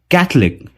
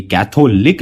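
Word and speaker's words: Catholic: दूसरा वर्ड है कैथलिक। कैथलिक। ये कैथोलिक नहीं होता, ये होता है कैथलिक।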